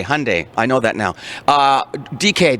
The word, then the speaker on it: Hyundai: It rhymes with Monday, Hyundai.